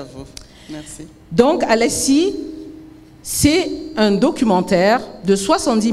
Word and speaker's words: Al’lèèssi: Je prononce bien ? Alessi.